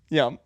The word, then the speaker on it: Ye: Oh, it's Ye. It's spelled Yee. It's spelled Ye, but I don't think he has any Asian in him, so it's Ye.